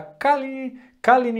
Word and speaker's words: Caline: Mais um vídeo aqui para vocês e hoje eu tô aqui para mostrar o review do pedal da Kalini, eu acho que é assim que se pronuncia, Kalini FX.